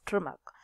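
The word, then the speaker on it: Tschermak: von trimac right so it should be pronounced as trimac so these were the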